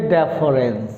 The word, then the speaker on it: deference: The next word is डेफरेंस, नॉट डिफरेंस। DI नाही, भल कि देखंतु कौन अच्छी DI नाही, DE अच्छी। तो कौन वर्डटा DEFERENCE, डेफरेंस। प्रोनाउंस केंती हेबो डेफरेंस।